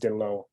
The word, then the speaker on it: Dhillon: Yeah, that's a great question, because Dhillon is definitely a very Anglo-Western name, but until people see the spelling of Dhillon, which is correctly pronounced Dhillon, then people start to wonder a little bit different about that.